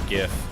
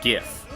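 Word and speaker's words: giff: D lore called the GIF and it's spelled G I FF and it was always like with a hard G.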